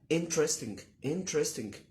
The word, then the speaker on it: interesting: قلنا ان interesting النطق الصح ليها interesting، مش لازم تقول انتر، مش موجودة دي في الانجليش خالص. حتى كلمة ارشيف مش ارشيف، كلمة ارشيف مش ارشيف يا جماعة.